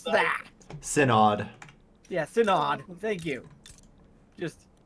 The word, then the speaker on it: Synod: do I pronounce that? Synod.